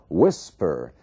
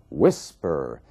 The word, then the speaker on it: whisper: temos um outro caso Whisper você vê que a força da palavra sílaba tônica está na primeira parte Whisper então quando você tiver